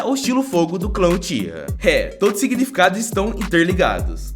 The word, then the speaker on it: Uchiha: Já o sobrenome Uchiha também pode ser pronunciado como Uchiwa, e significa leque de papel.